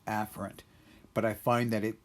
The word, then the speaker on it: afferent: but please know that this term is usually pronounced as afferent right afferent but I find that it it goes by